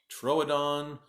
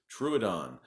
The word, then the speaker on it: Troodon: It's been pronounced Troodon, Troodon. I've seen it about 5 different ways, and the last way that I saw it pronounced that I'm going to use today is Troodon.